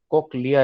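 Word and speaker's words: cochlea: कोक्लिया is right pronunciation. कोकलिया, कोकलिया, ये right pronunciation, कोक्लिया तक।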